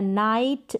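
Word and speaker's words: night: और यहां पर जी एच क्या है? साइलेंट है। तो ये बन गया नाइट, लाइट, माइट और साइट।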